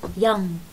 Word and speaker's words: young: عنا هاي الكلمة مثلا long، الجي لا تلفظ، تلفظ بغنة long. كمان هاي الكلمة young، الجي آخر صوت آخر شيء الإج، هاي لا تلفظ young.